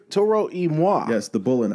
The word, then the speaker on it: Toro y Moi: Toro y Moi. Toro y Moi.